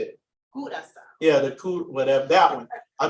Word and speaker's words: Curaçao: Curaçao.